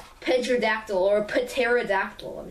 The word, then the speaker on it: pterodactyl: trans or not okay the word pterodactyl pronounced the silent P pterodactyl yeah you then yeah